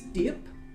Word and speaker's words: Diep: So if there are people gathering round, this is Diep. D-I-E-P is how you pronounce their name.